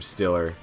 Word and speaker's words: Steelers: We head to Pittsburgh, Pennsylvania, home of people pronouncing the team name Stiller, like with an I, calling people Jagoff, and putting potatoes on sandwiches, as you do in the city of Pittsburgh.